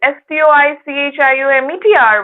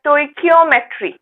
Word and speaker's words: stoichiometry: The spelling is like STOICHIOMETRY, right? We pronounce it as stoichiometry.